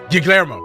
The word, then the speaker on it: Guillermo: Yeah, how do you pronounce that? Guillermo? Guillermo.